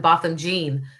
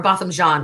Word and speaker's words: Botham Jean: So I lived in the Dallas area when Botham Jean or Botham John, I'm sorry, I always say Jean because that's how it's spelled, but when Botham John was gunned down in his home.